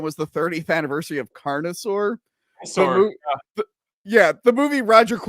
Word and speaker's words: Carnosaur: Carnosaur.